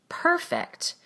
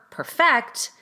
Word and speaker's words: perfect: In the adjective, the prefix is stressed. That's where we make the vowel louder and longer and go up in pitch. Perfect. And in the verb perfect, we rush the first